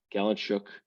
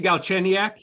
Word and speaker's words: Galchenyuk: Alex Galchenuk went to my favorite game. My favorite game. Nick trying to pronounce hockey last names. It's so much fun. Was that supposed to be Galchenyuk? Yes. Yeah, whatever.